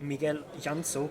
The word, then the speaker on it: Miguel Llansó: We are here with Miguel Llansó. Correct me if I'm pronouncing this badly. You say it perfectly.